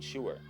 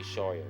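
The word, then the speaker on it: Scheuer: A while ago I came across a play from a young man named Benjamin Shuer. I should say Shawyer because it rhymes with lawyer and it's a oneman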